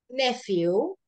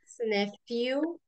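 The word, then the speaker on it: nephew: eh Cómo es sobrino nefiu nefw Okay me lo quiero anotar como se pronuncia nefw se escribe nepu pero se dice ne Okay eh son hijo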